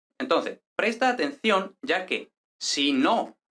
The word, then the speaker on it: sino: va a haber un acento de voz hasta la siguiente palabra e incluso es posible que cuando se está haciendo énfasis en el habla se note que el Ace está Incluso en la primera sílaba por lo que se distingue perfectamente de si no Entonces vamos a verlo no me gustan los gatos sino los perros el acento no viene